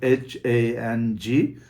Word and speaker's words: hang: It is spelled as H-A-N-G and pronounced as hang.